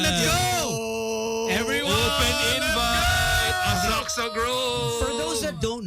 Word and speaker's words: Asakusa: It's pronounced okay. as Asaksa.